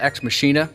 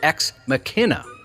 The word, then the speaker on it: Ex Machina: Jesus uh on I I thought the movie is called ex machina he says it's pronounced ex McKenna oh ex McKenna but then he oh